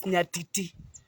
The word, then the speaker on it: nyatiti: I don't know why they called it the nyatiti, but okay, in Luo it's nyatiti. You pronounce it as nyatiti. So because we have been urbanized a little bit, we say nyatiti, but it's nyatiti.